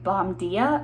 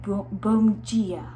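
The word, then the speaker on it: Bom Dia: I looked how to pronounce that because it sounds like it should say Bomdia, but it's like Bomgia. I'm still probably saying it wrong, but I tried.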